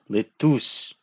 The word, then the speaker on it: LeTouse: It is not lettuce, it is LeTouse.